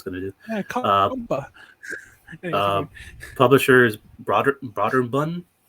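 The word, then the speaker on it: Brøderbund: to do publishers broad broader bun that's how you pronounce it even though it has the accent over those oh boom i think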